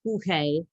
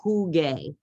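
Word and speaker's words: jugué: Otherwise, you have juge, and we want that hard G sound, that G. So jugue with a G-U-E with an accent at the end.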